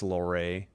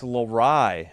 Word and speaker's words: Laur: How do you say Laur? I'm assuming it's Loray. Oh, actually it's Lorai.